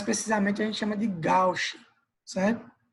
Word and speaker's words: gauche: Mais precisamente a gente chama de gauche, certo? Se pronuncia gauche, mas se escreve gauche, tá?